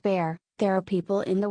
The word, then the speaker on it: Bar: I was growing up often shortened to Bar pronounced bear there are people in